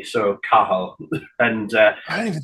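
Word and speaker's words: Cathal: but it's it's pronounced kahal because you don't you don't pronounce the T so kahal and uh I don't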